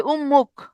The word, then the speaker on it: উম্মুখ: এখানে ময়ের কারণে এই তটা, এটা পরবর্তী ধ্বনি ম, আর আগের ধ্বনি কি? ত। এই ময়ের কারণে ত কি হয়ে যাবে? ময়ের মতো হয়ে যাবে। তাহলে কি হবে? উম্মুখ।